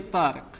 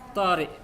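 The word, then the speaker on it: طارق: Nah, dia ini orang Mesir, maka dia nggak bisa ngomong qaf ya. Maka dia bacanya Tariq. Kalau Fairuz dia orang Irak bisa ngomong qaf, maka dia baca Tariq.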